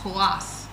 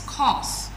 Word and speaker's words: coarse: Some people call it kass but it's coarse.